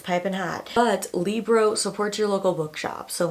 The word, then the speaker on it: Libro: I've been pronouncing it Libro. It's Libro. Like Libra, love a Libra.